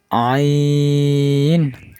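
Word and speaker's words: ع: আইন আইন আইন, হলকের মধ্যে হালকা চাপ দিয়ে উচ্চারণ করতে হবে আইন।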